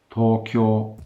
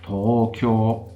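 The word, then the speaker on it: 東京: So, for example, the Japanese word for Tokyo is Tokyo, or if I exaggerate that a bit, Tokyo, whereas the Japanese word for Kyoto, surprise, surprise, is Kyoto.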